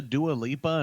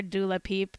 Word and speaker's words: Dua Lipa: so wait there's a dualipa and a doula peep oh sorry dua lipa if you're not in the know we call her doula peep because that's how wendy williams pronounced her name oh okay okay fine